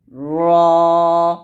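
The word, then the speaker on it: ر: এরকম ভাবে তারপর হচ্ছে র বলি রা বলা যাবে না এখানে আকার নাই আকার ব্যবহার করে করা যাবে না বলতে হবে র তো আমার সাথে আপনারা পড়েন র এরকম র তারপর হচ্ছে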